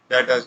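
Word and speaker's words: debtors: क्या होते हैं, डेटर्स। इनको डी बी से डेप्टर्स नहीं पढ़ना, डेटर्स पढ़ना है, बी साइलेंट है।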